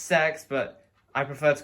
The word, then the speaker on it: CeX: I know it's pronounced sex, but I prefer to call it CEX.